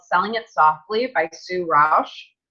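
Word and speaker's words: Rusch: It's called Selling It Softly by Sue Rausch. It's her last name is spelled R-U-S-C-H.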